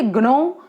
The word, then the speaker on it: gnaw: इसे कहते हैं जूनो, ठीक है, GNAW। बहुत से लोग इसे ग्नो प्रोनाउंस करते हैं, जूनो भी कह सकते हो, ग्नो भी कह सकते हो।